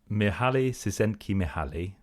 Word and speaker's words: Mihaly Csikszentmihalyi: Mihaly Csikszentmihalyi.